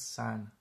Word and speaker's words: sen: It's pronounced as sen. Sen means you. It's not sen, okay? It's san.